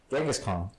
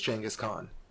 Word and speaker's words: Chinggis Khaan: any time Changez Khan Genghis Khan Genghis cause James it is Chinggis Khaan that's the way it's pronounced properly in their in their line